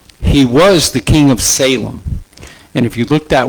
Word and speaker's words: Salem: he was the king of Salem. And if you look that word up in Hebrew, it means peace. That's what the word Salem means. It's actually pronounced Salam.